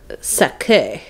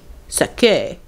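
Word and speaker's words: sacque: at the bottom and it's spelled sake s a c q UE e sake infants shirts and Shrink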